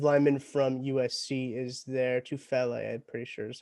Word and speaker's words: Tufele: Tufele, I'm pretty sure is how it's pronounced Yep.